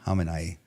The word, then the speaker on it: Khamenei: pronounced like Khamenei. Khamenei.